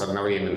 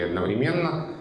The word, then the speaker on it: одновременно: И ответ на вопрос одновременно или одновременно сейчас будет такой, предпочтительно, в строгой речи, в образцовом литературном языке одновременно, в эфире особенно, но в живой речи ударение одновременно уже давным-давно существует как правильное. То есть фактически это стадия равноправия вариантов. А просто для эфира рекомендуется одновременно.